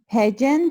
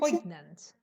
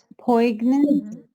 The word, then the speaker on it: poignant: companions were so pageant Poignant. and Poignant.